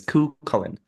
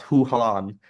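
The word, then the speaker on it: Cú Chulainn: So hearing them pronounce Hugh Holland, um, I was sitting here like, no, that's not how you say it.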